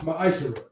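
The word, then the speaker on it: Ma'aser: it means 10th in hebrew and it's pronounced maisha 10 of every penny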